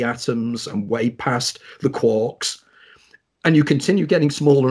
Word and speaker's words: quark: Just like it's quarks rather than quarks as well. Yeah. Murray Gell-Mann said it's quarks, so if that's what Murray Gell-Mann, who invented the term, wanted, that's fine.